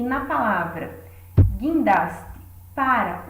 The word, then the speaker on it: guindaste: E o mesmo ocorre na palavra guindaste, onde esse gui é formado pelo, no caso, combinação do G e do I, mas não da letra U. Ela não é pronunciada.